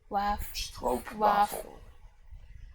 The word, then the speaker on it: stroopwafel: It's also a case of one of those short vowels that's just pronounced longer. So wafel. Oh! Stroopwafel.